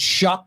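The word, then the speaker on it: Shough: Shuck is how you pronounce his name. Yeah, Shuck seems to be the guy, the Louisville rookie, right? Yeah, I I would be shocked if it's not Tyler Shock.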